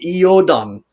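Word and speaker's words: Godan: or Odin or voton they called him godon with a G and then it's still debated of whether or not that g is an hard G or a y sound so it could have been eodang you know there there's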